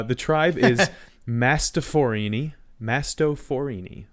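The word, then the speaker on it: Mastophorini: tribe is Mast forini masto forini like a like a Mastadon it's like an elephant the genus is or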